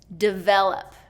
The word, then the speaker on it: develop: Develop. Okay? Develop is 2nd syllable stress. Develop. Okay? And that first syllable is reduced to that short I.